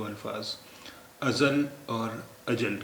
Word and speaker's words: अजल: जो है वो है अजल इसमें जे के बजाय जीम है अजल अजल अजल अजल अजल का मतलब